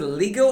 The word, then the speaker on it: Lego: kids you have several lego batman everywhere do you pronounce it legal or lego i do lego lego lego lego original one is lego so let's keep it